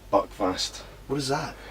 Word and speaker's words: Buckfast: Buckfest? Buckfast.